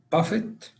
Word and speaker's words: buffet: Buffett. Buffett, correct. Or it has another pronunciation, Buffet.